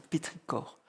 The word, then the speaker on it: pétrichor: Ça s'écrit pétrichor mais ça se dit pétricor.